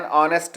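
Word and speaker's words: honest: For example an hour, an ऑनेस्ट मैन, N honourable man. यहाँ पर H silent है, इसलिए वाउल की आवाज़ आ रही है, वाउल का साउंड आ रहा है और हमने एन का यूज़ किया है.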